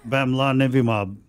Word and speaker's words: bamlanivimab: The bamlanivimab. Lillian, it's bamlanivimab.